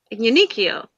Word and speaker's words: Uniqlo: Yeah, it's almost like it ends in URO. Yeah, the end is the tricky bit. Yeah. Like the last syllable is like goes to your brain in a weird way, and you're just like, I didn't get that.